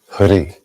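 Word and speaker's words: Hrih: It's Om Ami Deva Deva Hari, H-R-I, or actually H-R-I-H, but it's a silent H at the end.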